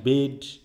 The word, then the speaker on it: Bede: আমরা সবাই উচ্চারণ করছি বিদে বা এরকম, আমরা একটু দেখে আসি বেড বা এই জাতীয় নামের উচ্চারণগুলো আসলে কিভাবে আছে, আমরা একটু দেখে নিই সঠিক উচ্চারণটা।